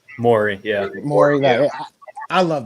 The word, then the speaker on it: Morey: Morey, yeah.